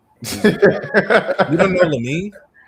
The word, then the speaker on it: Lamine: Um, oh, he I would I would say Lamine Yam. Exactly. You don't know Lamine?